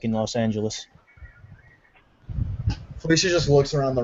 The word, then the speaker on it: Los Angeles: Yeah, Los Angeles. Angeles. Is that how it's pronounced?